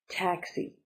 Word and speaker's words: taxi: Taxi. 2 syllables. Taxi. Stress is on the first. Taxi. So up high, taxi.